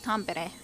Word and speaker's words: Tampere: difficult time doing that Tampere combat wounds but Tom Barrett anyways is of course the correct way to say that this isn't gonna be